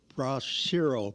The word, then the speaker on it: Bracero: through the Bracero program.